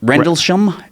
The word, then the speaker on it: Rendlesham: How do you spell Rendlesham. it? Rendlesham.